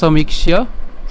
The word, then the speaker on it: সমীক্ষ্য: এখন সমীক্ষ্য কেন এখানে? কারণ এখানে জফলা আছে, জফলা উচ্চারণ ইয়র মতো, আর আমরা এখানে ক্ষীয়কে ভেঙে লিখেছি, মানে ভেঙে বলেছি সমীক্ষ্য। হ্যাঁ, অর্থাৎ ককে আগে এনেছি, ক্ষীয়কে মূর্ধন্যকে পরে নিয়েছি, অর্থাৎ এই যে সমীক্ষ্য।